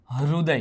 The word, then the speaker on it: हृदय: तो कभी कभार लोग बोलते हैं हृदय, कभी कभार लोग बोलते हैं हृदय। तो भाई इसका सही उच्चारण क्या है? हृदय।